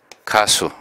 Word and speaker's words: 가수: 가요, 가수. 가요와 가수는 모두 노래 가자가 들어 있습니다. 노래 가자는 길게 읽지 않고 짧게 읽습니다. 그래서 가요가 아니고 가요, 이것도 가수가 아니고 가수, 이렇게 발음을 하게 됩니다.